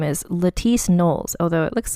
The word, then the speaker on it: Knollys: o l l Ys and I believe it's pronounced noes like the sem way as Beyonce noes Carter so her name is Leti nolles although it looks like and I said it